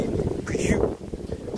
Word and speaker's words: Peugeot: It is not comes from the English pronunciation. It comes from the French. Actually, the Peugeot, when we talk about a Peugeot in French, will be Peugeot.